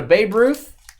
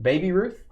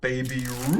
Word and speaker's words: Baby Ruth: uh Phil's having a Babe Ruth oh you got to say it right Baby Ruth Baby Ruth he said Babe Ruth baby Ro 100 Grand